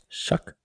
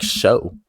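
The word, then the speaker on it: Shough: Shuck. His name's Shuck. That's how you pronounce it? I thought it was Yeah, it's like sh. It's weird. I thought it was like show. No, it's Shuck.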